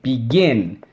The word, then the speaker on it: begin: consonant and we have the accent on the second syllable begin all right that's the